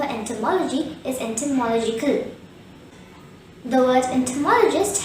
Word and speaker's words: entomologist: is entomological the word entomologist has five syllables and tur maul a gist the stress is on the third syllable mall and there are two schwa in this world therefore the correct pronunciation will be entomologist repeat after me enter